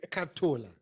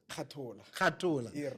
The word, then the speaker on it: Khatola: I always put an L in between. Yeah. So it's Khatola. Khatola.